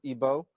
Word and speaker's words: Igbo: comes from Nigeria from the Igbo tribe otherwise pronounced ebo and Remy's a scholar